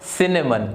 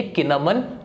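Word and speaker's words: cinnamon: Word आ रहा है, इसको प्रोनाउंस करेंगे सिनेमन, क्योंकि सी के बाद आई लगा हुआ था और हमें पता है कि अगर आई, ई और वाई में से कुछ आता है सी के बाद तो हम उसका प्रोनाउंसिएशन स में निकालते हैं, ये किनमन नहीं होगा।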